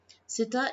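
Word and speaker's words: ستة: Sita is the pronunciation of the number 6 in Arabic.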